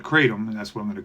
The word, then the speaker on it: kratom: of a substance called katum ketam however you want to pronounce it I call it katum and that's what I'm